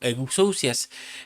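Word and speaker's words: ἐξουσίας: Y las potestades son las euxias, que es se pronuncia en griego, euxias, que son autoridades de tinieblas que también se levantaron contra nuestro Señor Jesucristo.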